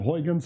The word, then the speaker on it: Huygens: got it from descartes is one of these names that uh you can only pronounce if you're dutch otherwise if this was a true if i were a true english speaker i would say huygens or something and um this doesn't